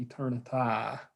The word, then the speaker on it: eternity: Day, I mispronounced that. It should be eternity to rhyme with day.